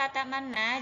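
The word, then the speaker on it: لا تأمنا: Jadi harus memonyongkan bibir terlebih dahulu. Jadi posisi bibirnya harus senyum terlebih dahulu, kemudian monyong, kemudian senyum lagi, baru bilang kata na.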